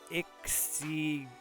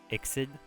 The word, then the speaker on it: IKSI:D: So just a really poor pronunciation there. Bulk of the series also happens above ground, so poor representation. Joonetsu by Ixid, IKSI:D. Ixid.